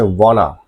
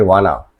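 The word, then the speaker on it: wanna: जैसे वाना। वांट टू को वो लोग बोलेंगे वाना। गोइंग टू को बोलेंगे गाना।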